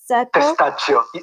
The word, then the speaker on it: Testaccio: Testaccio.